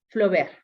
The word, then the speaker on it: Flaubert: Igual, la T también es un adorno, yo pronunciaría Flaubert, ¿sale?